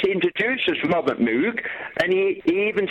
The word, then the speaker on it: Moog: and there it's pronounced Moog in Great Britain English-speaking countries uh people see the double O and they say mo how do you pronounce